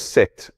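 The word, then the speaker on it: Seth: Alors Oziris est un grand pharaon mais son frère 7 ça se prononce 7 mais ça s'écrit secte et jaloux.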